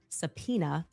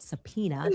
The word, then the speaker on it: Sapena: Her father, a man named Sapena, spelled phonetically just as I'm saying it, Sapena.